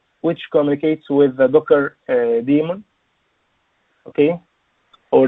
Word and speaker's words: daemon: okay this Klein which communicates with the docker demon okay or daemon to write to say it correctly leymah so